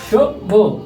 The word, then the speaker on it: সভ্য: সভ্য উচ্চারণ নীতিতে আছে সভ্য ভিউয়ার্স একটু খেয়াল করো আমার বামে যদি দন্ত স থাকে উচ্চারণ নীতিতে আমাদের তালবা স আছে সভ্য ভিউয়ার্স তার পরবর্তীতে আছে